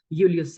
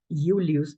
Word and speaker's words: Julius: And that is why the name for Julius Caesar is Julius, not Julius, with a J, yes?